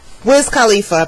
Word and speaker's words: Wiz Khalifa: Wiz Khalifa, that's how you say his name.